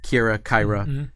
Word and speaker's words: Kyra: At that point, I will tell whoever's making this, like, it's pronounced Kyra, it's pronounced Iomade, it's pronounced Yonda-Bakari.